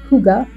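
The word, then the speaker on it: hygge: type in the word Huga h y DDE E I have no idea how that spelling gets translated into Huga as a pronunciation pronunciation but that's what it is check that out too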